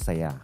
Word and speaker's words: saya: Is it saya or saya? Saya. Because in Filipino, it's saya.